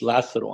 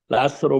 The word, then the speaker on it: Lazaro: More importantly, you call me because a lot of people have a problem pronouncing Lazaro, like Lazarus in the Bible. My given name is Lazaro. I'm running Lazaro Jr. for Congress out of District 28 in South Texas. But it's Lazaro. But you can call me by all means.